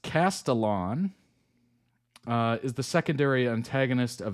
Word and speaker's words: Castellan: Pronounced Castellan, is the secondary antagonist of the Disney Plus series Percy Jackson and the Olympians, son of Hermes.